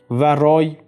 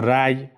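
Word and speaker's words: رأی: It didn't reach its intended mark And, the term 'rāy' or 'ray' means opinion or decision. 'Rāy' is the more proper way of reading it The term 'savāb' ...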